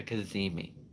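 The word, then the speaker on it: cazimi: interesting word um and the word is it's spelled c-a-c-i-m-i it's called a kazimi that's that's that's that's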